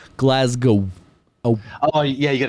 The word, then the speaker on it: Glasgow: glasg go oh but they want you to say it like glasgo oh oh yeah you